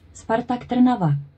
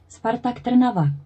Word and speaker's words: Spartak Trnava: Spartak Trnava 1. I threw that in because everyone complains about my pronunciation, so they have it from a Czech person pronouncing their name.